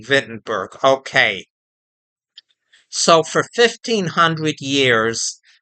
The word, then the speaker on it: Wittenberg: But if you don't speak German, W is often pronounced as V. Vittenberg.